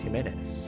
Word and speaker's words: Jimenez: It's not Jimenez, it's Jimenez. Jimenez. Eloy Jimenez.